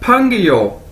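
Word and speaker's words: péngyou: को इकट्ठा कर दिया जाए तो क्या बनेगा, फंग यो, क्या बनेगा, फंग यो फंग यो, और इसका मतलब क्या है, फ्रेंड यानी दोस्त, फंग यो, कैसे, फंग यो दोस्त।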